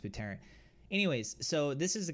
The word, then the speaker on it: Buterin: Vitalik Buterin, I believe that's how you say his last name.